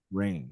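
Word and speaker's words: Raine: a real quick check uh it is a rain it's AA okay AA Rain but spelled with a r a r a i n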